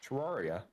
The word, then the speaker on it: Terraria: they're playing t uh Tiara or whatever it's pronounced tiaria or TI area sorry oh Terraria Terraria yes and they're full Dragon